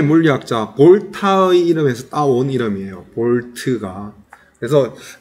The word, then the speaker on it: V: 그 다음에 이 전압은 알파벳 V라고 적고 V라고 읽으면 안 돼요. 뭐라고 읽어야 되냐면 볼트라고 얘기해야 돼요.